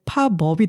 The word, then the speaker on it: 팝업: 팝인데 어 팝 우리나라 말 표기에서는 피읍 아비읍이라고 발음하기 때문에 연음이 일어나서 그 뒤에 파법이 되 파법이 되잖아요.